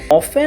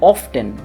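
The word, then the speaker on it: often: তেমনইভাবে যদি আপনাদেরকে প্রশ্ন করা হয় যে উচ্চারণ কোনটা সঠিক হবে, অফেন নাকি অফটেন, তাহলে আপনাদের মধ্যে অনেকেই বলবে যে এই উচ্চারণটা অফেন হবে, আবার অনেকেই বলবে যে উচ্চারণটা অফটেন হবে। তবে যদি আমরা এই ব্যাপারে একটু খোঁজ খবর নিই, তাহলে জানতে পারবো যে দুটোই নিজের আপন অবস্থায় সঠিক রয়েছে।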